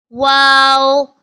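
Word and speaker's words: و: to pronounce this is wow kindly read after me wow wow comes from the lips like round circle to pronounce wow wow this is kindly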